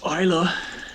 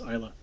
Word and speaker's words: Isla: It's pronounced Isla. Isla. So they do know. It's the actress Isla Fisher. Yeah, the actress Isla Fisher. Her name is pronounced Isla.